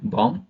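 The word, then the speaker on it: bomb: क्या होता है एम के बाद आया बी साइलेंट होता है एग्जांपल देखेंगे सी ओ एम बी कॉम बी ओ एम बी बम टी एच यू एम बी थम डी यू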